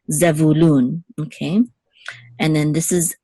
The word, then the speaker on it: Zevulun: says which says loon an accent is on loon oops the accent is on loon which is the last syllable so zevulun okay and then this